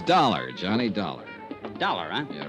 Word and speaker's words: Dollar: Buzz I didn't it's dollar Johnny Dollar doar huh yeah rhymes with collar I always like to